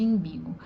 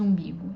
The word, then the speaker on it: umbigo: falar do caso de imbigo. O que acontece quando alguém pronuncia imbigo em vez de umbigo? Ela troca esse U inicial por I.